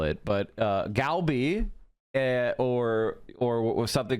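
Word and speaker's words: 갈비: Kalbi, it's more like Kalbi.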